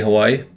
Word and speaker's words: Hawaii: on the language but the W is pronounced like a v um and there's what